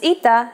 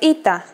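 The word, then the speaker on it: ήτα: complicated history of ita at first it is generally believed to be pronounced like a long version of epsilon and sounded like e after the classical period however its sound started to change and merged with yota as did another letter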